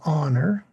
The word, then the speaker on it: honor: Because honor has a silent H and you start with the vowel sound.